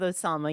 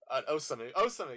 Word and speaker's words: Osamu: I should probably start pronouncing it like Katori, but I'm just so used to saying Katori. Same with Osama, yeah. Osamu, yeah.